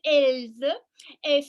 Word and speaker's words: Else: Yeah, so my name is Else. Some people have a little trouble with my name, so I spell it for you. E-L-S-E, like else. I think you see, I am just like everybody else.